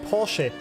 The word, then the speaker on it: Porsche: It's not Porsche. The car manufacturer is called Porsche. There's an E at the end, friends. But, most Americans get this completely wrong. For some reason, they can't pronounce that. I don't know why. It's Porsche.